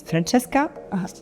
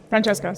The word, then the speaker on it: Francesca: Because the people were just wanting to know how to actually pronounce your name. It's Francesca. Francesca, sorry.